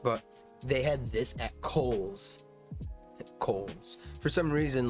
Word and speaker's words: Kohl's: Coal. But no, the H has to be enunciated after the O. So, you know, Kohl's, you know, calls it, nope. Yeah, it's Kohl's.